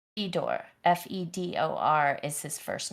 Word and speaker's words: Fedor: Okay, so it's I was hearing you say Theodore, but it's Fedor.